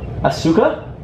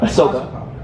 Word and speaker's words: Ahsoka: Asuka? Not Asuka. Ahsoka. Ahsoka. And now... It's like you through so much. And her name is Ahsoka Tano. She wields... The freak? That's not her name. Ahsoka.